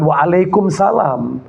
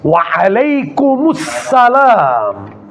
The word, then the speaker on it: Waalaikumussalam: Jawabannya jangan waalaikumsalam. Jawabannya itu ada damannya, ada tasdidnya, ada alif lamnya. Jadi jawabannya bukan waalaikumsalam. Jangan dimatikan. Enggak boleh. Waalaikumussalam warahmatullahi wabarakatuh.